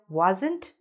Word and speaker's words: wasn't: Because if you are trying to say, I wasn't watching, but you don't say the ending t, then it'll sound like I was watching.